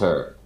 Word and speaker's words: auteur: Is that how it's Yeah, the pronounced? auteur.